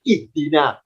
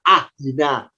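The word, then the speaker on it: اهدنا: Kenapa kita terbiasa bacanya ihdina? Kok tidak ahdina? Kok tidak uhdina? Ya, karena huruf ketiganya kasrah. Karena dalnya kasrah, alifnya ikut kasrah. Maka kalau diharokati alifnya harakatnya kasrah berbunyi ih.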